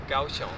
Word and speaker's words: Kaohsiung: Nadal jestem w miejscowości Kaohsiung, czy jak to się wymawia? Kaohsiung.